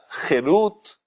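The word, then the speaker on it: חירות: La misma palabra Harut, si se la pronuncia Jerut, en vez de Harut se dice Jerut, eso significa libertad.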